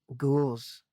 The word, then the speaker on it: ghouls: But anyway, ghouls. And don't forget the H. The huh is silent. Ghouls.